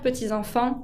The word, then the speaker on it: petits-enfants: Leurs petits-enfants avec un S qui ne se prononce pas.